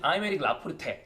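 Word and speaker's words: Aymeric Laporte: 저희는 그냥 아이메릭 라포르테 아이메릭 라포르테 완전 다르죠.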